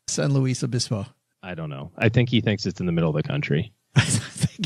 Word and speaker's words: San Luis Obispo: It's clearly Spanish, Doug. Please do not write in about Doug's pronunciation of San Luis Obispo.